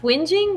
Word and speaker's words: whinging: cuz everybody got mad that's not how you say it you know hey not how you spell it right oh it is actually pronounced whinging wow I just I